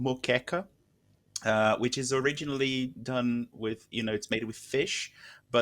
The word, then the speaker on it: moqueca: And to be fair, there is something called moqueca. Which is originally done with, it's made with fish, but there is a vegan version of it with hearts of palm, which is absolutely amazing. So it's called moqueca.